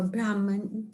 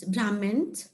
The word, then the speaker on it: Brahman: in other way answer how you pronounce brahmins uh we we call it uh brahman brahman or brahman they are they are